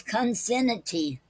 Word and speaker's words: concinnity: Today's word is consinity. Okay, and it's spelled CONCINNITY.